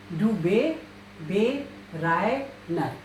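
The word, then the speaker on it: Döbereiner: It is only we have to remember Dubé Reiner, and you should know the correct spelling. Dubé. If umlaut U is there, it is pronounced as U. Dubé Reiner.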